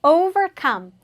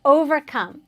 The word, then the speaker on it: overcome: So overcome. Let's say that together. Overcome. Overcome. Exactly. Make sure you pronounce it with a strong V sound.